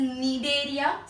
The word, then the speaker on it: Cnidaria: animal या date इस नीड एरिया सी silent N student so नीड